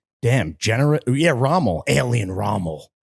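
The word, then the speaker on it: Rommel: __ ] Nazis damn gener yeah raml alien raml not spelled like ramul r o m m l yeah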